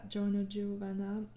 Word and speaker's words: Giorno Giovanna: I'm so sorry for the mispronunciation all the time. But yeah, Giorno Giovanna.